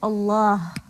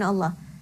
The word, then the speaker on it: Allah: precedes the lam in Allah and the vowel that letter carries. So, if the vowel preceding the lam in Allah is a fatha or a dhamma, the lam in Allah will be pronounced heavily.